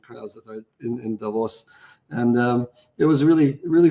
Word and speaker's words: Davos: I found out that the proper way to pronounce Davos is not Davos it's Davos and uh and I